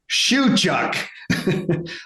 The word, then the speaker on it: Shewchuk: wondering what's going on, I was practicing Shawn's last name and I was mispronouncing it from the beginning. So here's the thing. You can always mispronounce something, make a mistake, you can recover. Shawn Shewchuk. I got it right.